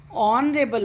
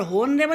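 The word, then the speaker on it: honourable: ऑनरेबल में H silent है और ओ की साउंड आती है ऑनरेबल, होनरेबल नहीं होता, ऑनरेबल, तो इसलिए यहाँ पर एन का यूज़ होगा।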